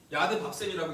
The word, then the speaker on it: 야드바셈: 이거를 야드바브셈이라는데 야드밥셈이라고 읽는데 이것이 무엇이냐면 야드가 손이라는 뜻이에요.